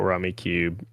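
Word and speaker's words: Rummikub: and they recently did a review for the tile-based game Rummy Cube, Mm-hmm. or Rummy Cub is how they pronounce it.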